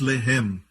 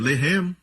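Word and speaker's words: לֶחֶם: Lahem se escreve assim. Lahem pode significar pão ou alimentar. Mas Lahem também quer dizer luta, batalhar, guerra. Se escreve da mesma maneira. Lamed, Het, Mem. Mesma escrita, a única diferença é a pontuação. Eles colocam os pontos em diferentes lugares. Um é Lehem, o outro é Lahem.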